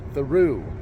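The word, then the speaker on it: Thoreau: Mexico yeah I know it looks like it says uh thorough but I believe they pronounce it theu so I'm going to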